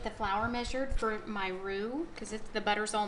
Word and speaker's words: roux: smooth paste this smooth paste is called a roux and it's spelled r-o-u-x and it's like a thickening agent